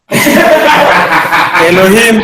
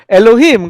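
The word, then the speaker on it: אלהים: Even if the pronunciation appears to begin in with a vowel, it begins with a consonant.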